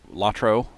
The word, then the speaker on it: LotRO: the Rings Online or lot row some people pronounce it lotro I say lot row how to install that